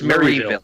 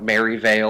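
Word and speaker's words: Marieville: And well, according to me, in my ears, this person's hometown is constantly mispronounced by Lillian. Owens. Yep, it's Maryville. Maryville. She keeps calling it Maryvale or Maryville or something.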